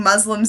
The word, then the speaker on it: Muslim: Muslim is the correct pronunciation. Them Muslims. Wait, is that really the correct pronunciation? Muslim? That's Muslim. Moo.